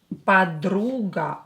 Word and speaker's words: подруга: Подруга. O, not stressed, will be pronounced as A.